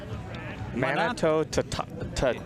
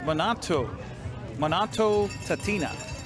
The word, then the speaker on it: Manitou Tatina: I want to say Manitou Tatino. Yeah, I got the pronunciation beforehand. It's Manitou Tatina.